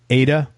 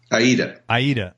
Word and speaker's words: Aida: In addition, Mike's played guitar for national tours of Broadway shows like Mamma Mia, Rent, Ada. Did I pronounce that right? Aida.